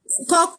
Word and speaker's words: Koch: Robert Koch, Koch se pronuncia Koch, Robert Koch, él es médico alemán, ¿ya?